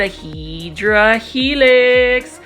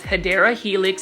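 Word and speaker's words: Hedera helix: you could probably put aedra helix or the correct way to say it is hadera Helix English ivy and for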